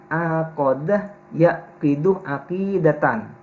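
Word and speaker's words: عَقَدَ يَعْقِدُ عَقِيدَةً: Nah, akidah Islam itu kalau dilihat dari sisi kebahasaan, berasal dari kata aqadah yaqidu aqidatan. Ingat bacanya, karena di buku itu tidak ada harokatnya. Aqadah yaqidu aqidatan. Diingat, nanti dibaca salah nanti.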